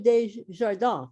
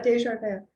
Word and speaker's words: Des Jardins: But it's pronounced Des Jardins, right? Yeah, Des Jardins. Yeah, it's French.